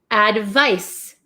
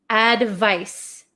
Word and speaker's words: advice: this one this is advice s advice advice so this makes like an S Sound Advice advice so you